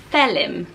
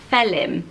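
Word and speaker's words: Faolán: name my favourite for boys and it is felon felon and so it is Fei D htlm felon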